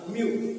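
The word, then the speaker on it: mu: इसे प्रोनाउंस यम और यू दोनों एक साथ बोलना, म्यू.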